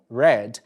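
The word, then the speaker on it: read: porém com pronúncias diferentes recapitulando raid no passado red no passado ride no presente red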